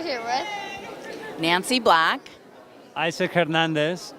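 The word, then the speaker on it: Hernández: Isaac Hernandez with an accent on the A because I haven't lost my accent yet.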